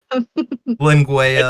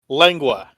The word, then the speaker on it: lengua: Linguea. It just How do you say it? Linguea? lengua.